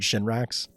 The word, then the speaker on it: Shinra: Well, Shinra is also 2 syllables.